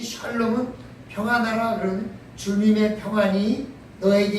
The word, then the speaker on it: 샬롬: 발음을 잘못해서 살롬 그러면 저는 욕이 되니까 여기까지 마시고 샤 해야 됩니다.